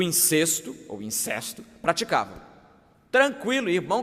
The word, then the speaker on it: incesto: indiscutível de incesto, ou os puristas da nossa língua insistem que a pronúncia certa é incesto. Então, fica aí as duas pronúncias, né? Seja como for, era um caso de incesto ou de incesto.